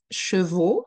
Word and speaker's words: chevaux: Chevaux. Donc, un cheval, a horse. Des chevaux, plural. O. Des cheveux. E. O. E. O. E. You see my lips? They are quite extended when I pronounce O.